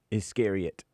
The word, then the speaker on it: Iscariot: Iscariot.